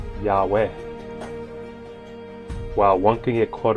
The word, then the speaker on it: Yahweh: the majority of scholarship agrees that this is pronounced yahweh while one can get caught up with the